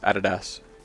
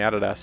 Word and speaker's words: Adidas: call it Adidas, but in Australia it's Adidas. This is just how we pronounce it. Like I don't know anybody in Australia that grew up knowing the brand that calls it Adidas. Like it's Adidas here because we're convicts. We pronounce things funny.